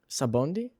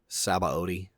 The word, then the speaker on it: Sabaody: Sabondi? Sabaody.